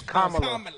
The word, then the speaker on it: Kamala: And then he got Camilla. I'd be afraid to even mention Camilla. That's not how they pronounce it. It's Kamala.